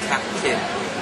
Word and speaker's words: Kake: It's actually pronounced Kake. Kake. So that's the vowels are very much the same as the Japanese. okay. So that's Kiwi pronunciation.